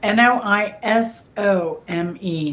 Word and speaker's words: noisome: and Jen and Jen the word is actually pronounced no no n o i s o m e noisome I went to the